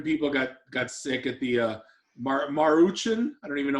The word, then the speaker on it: Maruchan: That's No, but apparently like 7 people got sick at the Maruchan. I don't even know how to pronounce it.